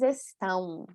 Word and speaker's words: estão: E depois mais nasalização, gente. Vocês estão aprendendo português. Estão, né? Mesma pronúncia. Eles estão e elas estão. Também nós adicionamos aí sonoramente um ão, né? Parece que tem uma letra U sonora, né? Na pronúncia. Ão, estão, tá?